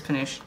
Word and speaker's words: Penuche: I'm pretty sure it's Penuche. Sounds French.